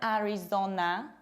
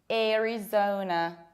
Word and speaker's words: Arizona: It's not Arizona. It's Arizona. And what happens here? This A is not pronounced like A. It's not pronounced like A. It needs to be pronounced like air, like airport, because it's followed by R. Airy, zo, rounded O, and reduced N. Zona, zona, Arizona, Arizona. And this state has two potential pronunciations.